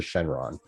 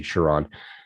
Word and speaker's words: Chiron: special edition shenrons um chiron i should say we're saying it wrong think of dragon ball z sure on but the the cheapest